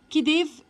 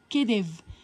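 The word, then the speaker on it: khedive: كديف الكي اتش بتتنطق كأنها كي بس بيبقى مقصود بيها حرف الخاء علشان مش موجود في العرب في الإنجليزي.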